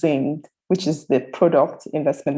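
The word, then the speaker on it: Ziing: with double i so if you take z-i-i-n-g you pronounce zinged which is the product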